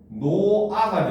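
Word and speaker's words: 놓아: 노타에 아가 붙는 건데 이 경우는 발음을 하면 노아가 됩니다. 그렇죠? 어떤 차이가 생겼습니까? 어떤 차이가 생겼어요? 어떤 차이가 생겼습니까? 두 개. 어떤 차이가 생겼어? 어? 그치. 히읗이 지금 탈락된 거예요.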